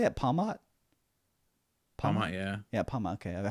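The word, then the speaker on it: Pawmot: Palmot, yeah.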